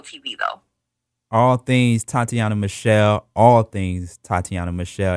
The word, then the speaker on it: Tateana: simple Facebook Instagram Twitter YouTube snapchat everything is Tatiana Michelle I tried to keep this simple so